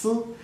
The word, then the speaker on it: 丝: of a thread, which in Chinese is sometimes pronounced si, is also a pun for thoughts or melancholy or love longing.